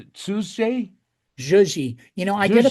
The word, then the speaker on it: Tzuji: You know that your fashion brand, how do you pronounce it? Suzuji.